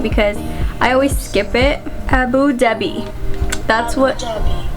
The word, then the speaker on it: Abu Dhabi: Abu Dhabi. That's what. Abu Dhabi.